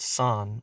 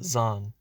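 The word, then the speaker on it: 山: of a mountain and is pronounced san or in this case zan now what about the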